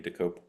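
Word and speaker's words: Dokoupil: News, for the CBS Evening News, with Tony DeCopel. Is that how I pronounce it? Did I get it right? Tony DeCopel.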